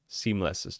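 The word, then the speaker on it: SeamlessR: I used to watch a lot of Seamless R's. Seamless's tutorials. The R is silent.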